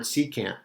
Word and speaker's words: secant: too is the word secant exterior or angles are formed sometimes by two secant's now the word secant almost sounds like the word second and that is because it